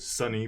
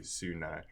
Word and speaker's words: SUNY: We've heard Sunny before. We've heard SUNY, so I'm going to say SUNY.